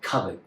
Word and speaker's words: Kovered: on, of two bags that I got from Kovered, as spelled with a K, K-O-V-E-R-E-D, which is a UK brand that creates heritage bags out of reclaimed materials.